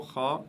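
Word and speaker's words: خاء: Voilà la lettre Kha qui se prononce juste au-dessus de la pomme d'Adam. Kha.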